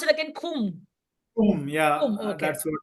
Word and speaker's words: Qom: How do you pronounce it again? Kum.